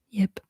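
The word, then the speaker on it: Jip: This, by the way, is Yip. It's my stuffed animal, and he also just wanted to say hi. So everybody say hi to Yip. It's J-I-P, Yip.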